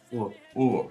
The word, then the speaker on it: Hugo: And the name Hugo, Hugo, can be Hugo. Yeah, it just kind of disappears altogether.